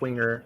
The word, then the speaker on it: Winger: you you said Mike Winger okay yeah Winger Winger Winger yeah no Wier Winger Winger okay wait how do you spell that no W Wing like like a bird's wing wing wing oh oh